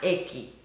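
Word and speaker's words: Ekhi: Se llama Eki, se escribe E-K-H-I. Es en euskera y su significado es sol.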